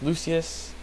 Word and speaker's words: Lucius: It's Lucius.